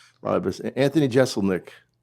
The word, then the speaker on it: Jeselnik: Anthony Jeselnik, pronounce it right?